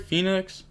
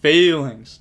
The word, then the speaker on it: Phalanx: Everyone forgot that once Phoenix, or am I saying it right? Phoenix? I feel like that's wrong. Phalanx.